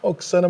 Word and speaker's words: Oksana: O nome dela não tem tanta graça quanto eu achei que teria, é Oksana, eu achei que lá tinha uma outra pronúncia, mas Oksana, muito prazer. Prazer todo meu. É Oksana mesmo aqui e lá, né?